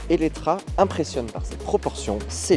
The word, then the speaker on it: Eletre: Visuellement, l'élétré que l'on prononce Elettra impressionne par ses proportions, ses lignes et son look.